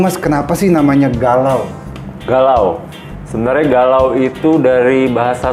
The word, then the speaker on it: galau: Galau. Sebenarnya galau itu dari bahasa slangnya Portugal. Sebenarnya dia apa namanya? Pronounce-nya sebenarnya gelau.